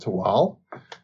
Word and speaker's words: Tehuatl: is one of those islands it is called tewal it's spelled t-e-h-u-a-t-l but we're going to go with the nawal pronunciation and call it to wal and it is a very mesoamerican inspired um